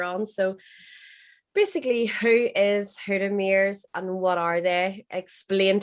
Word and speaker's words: Hoddmimirs: I'll let you have that one, but it's Hoddmimirs.